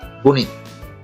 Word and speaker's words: গণিত: তারপরে আছে গণিত, আমরা অহরহই গণিত বলে থাকি, প্রায় সবসময় গণিত বলি, কিন্তু আসলে সঠিক উচ্চারণ হচ্ছে গণিত, একসাথে গণিত।